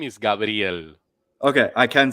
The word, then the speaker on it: Gabriel: Which syllable did I get wrong? Do it again. Gabriel. The brill. I'll never get that part. It's not Gabriel. It's Gabriel. Gabriel.